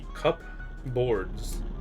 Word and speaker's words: cupboards: Everyone pronounces cup boards. Cupboards.